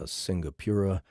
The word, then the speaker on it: Singapura: best-in-show cat pageant because her biggest competitor, a Singapura, was disqualified over some paperwork dispute.